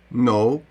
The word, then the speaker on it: know: або наслідниця престолу наприклад а от літера K перед N також не вимовляється Подивіться No ми не вимовляємо know